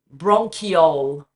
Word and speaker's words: bronchiole: bronchiole, bronchiole, bronchiole.